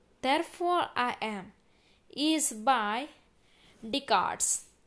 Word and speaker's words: Descartes: The statement "I think, therefore I am" is by Descartes. C is right answer. Here S is silent.